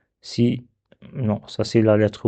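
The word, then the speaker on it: سين: C'est le sens au début, c'est comme le S en français. Donc c'est facile. Donc sin fatha c'est sa sin fatha ça c'est pas sa non c'est ça.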